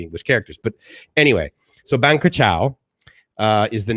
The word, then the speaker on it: Krachao: that ferry over to Krachao, and just so you know, it's pronounced as well as written KR Chow and K a chow. So it's Krachao, right? But it's Thai, obviously.